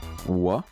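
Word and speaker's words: は: Wa. Même si ça écrit ha, ça se prononce wa.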